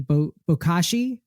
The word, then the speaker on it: Bokashi: And I actually had never heard of the system that you use, and tell me if I'm pronouncing it correctly. Bokashi.